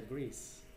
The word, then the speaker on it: Greece: País se pronuncia Greece.